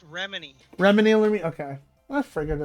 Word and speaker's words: Remini: I'm like, "Yeah, Leah Remedi Bro, plays." how did you say her name? Is it, how does Leah Remedi? I probably pronounced it wrong. It's Remini.